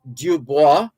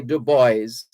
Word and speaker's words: Du Bois: author and editor w.e.b dubois in america's in america they say du bois but the french the correct pronunciation is dubois it's a french name w e b dubois